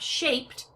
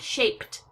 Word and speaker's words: shaped: coming from my throat so when I make shape into a past tense verb shaped you heard that t sound shaped shaped and the E is silent it just connects the last two consonants at the end of the verb and it sounds like a t shaped and then type